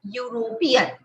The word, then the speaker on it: European: ई का जो प्रोनाउंसिएशन है वो वहां पे यूज नहीं हो रहा है, यूरोपियन, यूरोपियन। तो जो प्रोनाउंसिएशन है वो यू के हिसाब से आ रहा है, दैट इज YEW, यू ऐसा प्रोनाउंसिएशन आ रहा है, दैट्स व्हाई।